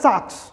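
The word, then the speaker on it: Salk: ये जो हमारी सार्स वैक्सीन है, ये जोनस सार्क्स जी हैं, माननीय जोनस शार्क टैंक याद आ गया, सॉरी, माननीय जोनस सार्क, एल साइलेंट है, माननीय जोनस सार्क, ये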